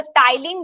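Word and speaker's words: ptyalin: जी ma'am ये टाइलीन की spelling P से स्टार्ट होगी। ये पी लिखा है। स्पेलिंग आप थोड़ा सा देख सकते हैं। पर शायद पी से स्टार्ट होती है। स्पेलिंग मैं देख के एक बार फाइनल आपको कंफर्म कर दूंगी। आई एम not sure about the spelling but शायद यही होता है। हां पी साइलेंट रहेगा। करेक्ट है। पी साइलेंट रहता है।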